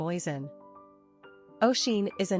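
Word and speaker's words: Oisín: atmology and historical origin of the baby name oen oen is a name enormously popular in Ireland and Northern Ireland though virtually unknown to Americans for the record it's pronounced Asen and means little deer from the gaic OS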